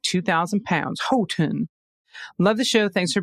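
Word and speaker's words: Houghton: That's H Hotton County in the city in Michigan's UP is pronounced Hoen. Ho like Santa's chro and ton like 2,000 lb. Hoen.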